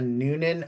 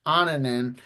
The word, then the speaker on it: Noonan: of a Noonan's name, if it's a Noonan or Onanen, because when he was with his former team, I heard it pronounced Onanen, and when he's been with Nashville, I've heard a Noonan. It is pronounced Noonan according to Aaron Sims and Nashville.